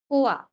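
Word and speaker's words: quoi: এটা মনে রাখবেন, কিউ এর পরে ইউ থাকলে ওটা নরমালি কি থাকবে? সাইলেন্ট থাকবে, ঠিক আছে? তার মানে আমরা ওটা বাদ। তার আমরা জানি যে ও এবং আই থাকলে কেমন সাউন্ড হবে? ওয়া সাউন্ড করবে, তাই না? তাহলে কোয়া কি হবে?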